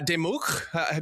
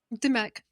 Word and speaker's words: Dimech: Um, we have Peter Gray and uh Demuk. Did I pronounce that correctly?